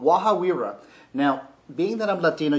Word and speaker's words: Waha: fantastic product out of New Zealand it's called wahaa now being that I'm Latino you think I